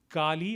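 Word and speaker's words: Galle: local language, I guess it is pronounced as Gali or Gali. I may be wrong in the way I'm pronouncing it. So it's Gali or Gal, keeping the American pronunciation.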